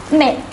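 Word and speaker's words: mai: on to the next four months mei is pronounced as meh zhun is pronounced as joan i repeat once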